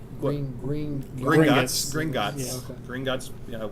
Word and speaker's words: Gringotts: Did I pronounce that right? Green. Gringotts.